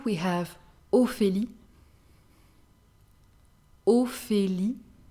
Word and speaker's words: Ophélie: Letter O, we have Ophélie, Ophélie. PH is the sound F, F. So Ophélie.